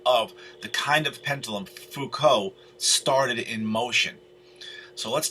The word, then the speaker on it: Foucault: to say that that's thou cult but no that's a french name it's foucault the way it's pronounced now uh so it